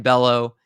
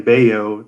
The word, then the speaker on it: Bello: for him as a red sox fan brian bellow he is going to be getting the call